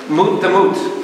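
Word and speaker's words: מות תמות: Mut the mut. Like Mort. Yes, it's like Mort.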